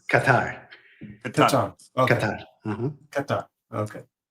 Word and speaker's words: Qatar: It's not pronounced Qatar; it's pronounced Qatar.